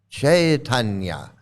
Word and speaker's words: Chaitanya: It's Chaitanya. Yeah, make sure you say it right, okay? Yeah, like it's Chaitanya, okay? It's chai, not chai. We're not drinking chai, although that sounds good. But we're not drinking chai. It's Chaitanya.